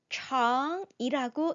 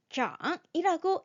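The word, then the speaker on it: 长: 길장일 때는 청이라고 읽어 줍니다. 그런데네 성장하다라는 의미로 활용이 될 때는 장이라고 읽어 주어요.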